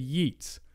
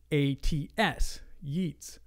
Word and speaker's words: Yeats: For years, I said Yeats because it's spelled Y-E-A-T-S, Yeats.